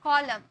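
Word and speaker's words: column: देख रहा है ना लेकिन एम और एन अगर एक साथ रख रहते हैं ना तो एन को साइलेंट कर दिया जाता है यानी कि चुप करवा दिया जाता है कॉलम डेम कॉलम एम एन एक साथ है तो क्या न के लिए न बैठा है क्या यहां पर एन के लिए न बैठा है नहीं म में साउंड खत्म हो रहा कॉलम कॉलमन नहीं बोले कॉलम डम डेमन नहीं डम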